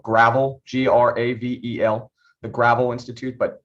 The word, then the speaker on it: Gravel: the gravel institute it's spelled gravel g-r-a-v-e-l the gravel institute but it's pronounced gravel go watch some of the videos